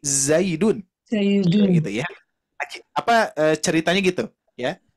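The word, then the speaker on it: زيد: Ternyata di kitab tersebut menceritakan tentang seseorang yang sedang mencari nama Zaid tapi diucapkan Daizun gitu ya. Nah, seharusnya bukan Daizun tapi Zaidun.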